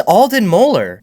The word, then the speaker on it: Alden Moeller: Who is Alden Moeller?